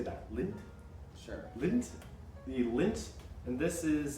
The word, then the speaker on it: Lindt: the how do you say that lindt sure lint the lint and this is uh dark chocolate